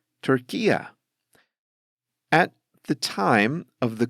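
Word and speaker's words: Türkiye: understandably speak Turkish and they don't call their country Turkey they call it turkia at the time of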